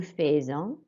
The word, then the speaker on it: faisons: Nous faisons. So we've got the A sound and then we've got the S sounding like a Z.